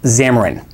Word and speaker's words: Xamarin: on over 98 of mobile devices this is pronounced xamarin xamarin is software from microsoft that is used